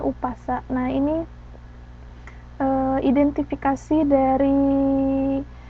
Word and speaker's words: Umpasa: sebagai paparikan sementara bahasa Batak eh sebagai Umpasa dibacanya umasa nah ini Eh identifikasi dari ee karangan pantun